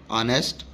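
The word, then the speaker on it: honest: Sound दे रहे हैं एज the initial consonant H इज not pronounced, कि जो हमारे पास इनिशियल वर्ड एच है या एच लेटर है उसको प्रोनाउंस नहीं किया जा रहा है।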